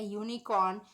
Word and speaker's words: unicorn: Now look at the example: a tiger, a tall man, a group of people, a unicorn. Here the vowel U has the sound of the consonant Y. Unicorn.